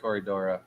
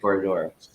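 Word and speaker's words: Corydoras: to see hold on dr anthony said it right he said corey dora i said corridor i'm sorry it's my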